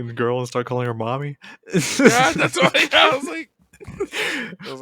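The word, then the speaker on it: Mami: Uh, mommy like M O M M Y. Well, it's pronounced like that, but it's M A M I.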